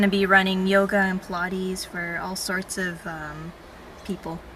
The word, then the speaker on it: Pilates: And I'm like, what's pilots? Then someone Pilots, said yeah. Pilates.